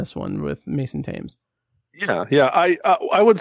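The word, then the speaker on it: Mason Thames: But u but I did I mostly liked Mason Tame. I have to get that pronunciation. him is like the river.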